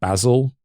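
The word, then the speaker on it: Basel: in the early 15th century such as in Basil. B A S E L. Is that how it's actually pronounced? The city? Yeah, Basil.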